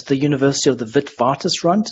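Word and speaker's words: Witwatersrand: the university of the vidvartus runt it's pronounced with the v because it's a dutch name so we just call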